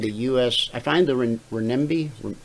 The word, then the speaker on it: renminbi: I find the renminbi. Renminbi, how do you say that?